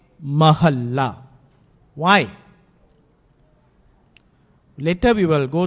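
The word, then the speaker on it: ਮਹਲਾ: So just remember that the correct pronunciation is Mahalla. It has been coming from day 1 until today in Harmandir Sahib, in Akal Takht, everywhere they pronounce it this way.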